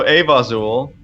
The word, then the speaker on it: Avazul: Yeah, so Avazul is how you pronounce it, which is pretty much what you said.